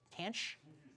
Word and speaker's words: tanh: Tanch. He's my guy who knows. Jake Nick, do you know how they they call it tanch?